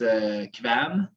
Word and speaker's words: Kvaen: I mean, if you want to say it in like the exact correct way, it's Kvaen. Okay. Kvaen.